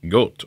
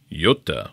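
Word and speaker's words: Göta: heels though we have the castaplast goat or Yota which I do think is the per correct pronunciation comment below a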